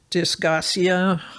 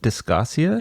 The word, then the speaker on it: dysgeusia: The number one, they can't smell, they can't taste, or dysgeusia, my favorite medical word of the week, which is a foul taste in the mouth for no apparent reason. How do you pronounce that? Dysgeusia?